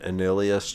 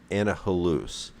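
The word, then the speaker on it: Annihilus: time you put an Anilius charm on, or Annihalus, is the pronunciation that I found off the internet, or you put on a torch.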